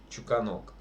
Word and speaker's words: Чуканок: Вот, лучше Чуканок. Вот на что, Андрюш, ударение ставить? На первый, на второй или на третий? Гласный, согласный. Давно в школе учился, не помню. На У. Чуканок.